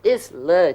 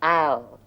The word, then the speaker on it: isle: Oh, you mean the lake is Not Isla, Chandran. It's pronounced Isle. It's another word for island.